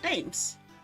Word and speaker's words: Thames: Thames. Well, why it has an H in there? Why does it have an H if it's not supposed to be pronounced?